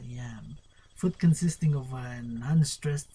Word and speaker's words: iamb: Yam, I-M-B, or lamb? Nah, it's a yam.